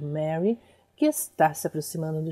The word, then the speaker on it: Meari: Em romaji está escrito Mari, e a gente pronuncia Mary.